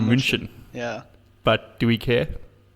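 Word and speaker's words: München: the movie in Bruges apparently we pronounced Bayern Munich incorrectly this is Bayern Munchen yeah but do we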